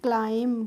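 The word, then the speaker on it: climb: है अब है हमारा सी एल आई एम बी तो इसको हम क्या पढ़ेंगे इसको हम पढ़ेंगे क्लाइम क्या पढ़ेंगे क्लाइम पढ़ेंगे क्लाइम नहीं पढ़ेंगे ठीक है क्लाइम क्लाइम का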